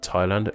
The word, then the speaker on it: Thailand: here our name explain that H is silent in the names of the nations of Bhutan Ghana Thailand Liechtenstein just to name